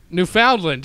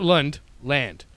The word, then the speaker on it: Newfoundland: Newfoundland there you go but not lund land you got to really emphasize that newfound land it's it's literally how